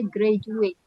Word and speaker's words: graduate: Sama ini graduate ya tulisannya graduate tapi bacanya graduate. Jadi D itu dibaca J.